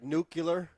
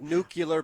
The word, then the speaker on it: nuclear: jumped right out at is this like nucular yeah it can be like nuclear power yeah yes that that's often mispronounced but anyway I mean